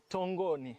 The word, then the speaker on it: Tongoni: And this is before I believe Tanga started the ruins of Tongoni. Tongoni Tongoni. Yes. I said English pronunciation but tongoni ruins tongoni